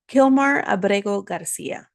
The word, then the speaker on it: Kilmar Abrego Garcia: Kilmar Abrego Garcia.